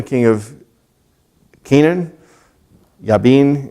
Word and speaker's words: Jabin: into the hand of Jabin king of Canaan yea bean and pronounced in Hebrew who rain up in